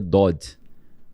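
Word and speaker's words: דוד: Então a a David você pode ler Dod ou pode ler Dud.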